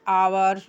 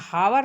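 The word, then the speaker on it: hours: How many आवर्स डू you study at home? यहां हावर नहीं पढ़ाएगा। आवर पढ़ाएगा बच्चों। एच साइलेंट है।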